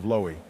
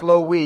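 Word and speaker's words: Lowee: Let's start off in reverse, so the CPU candidates of Lowy. Ram and Ram. It's pronounced Low-wee, you ignoramus, and it's a wonder you got reelected.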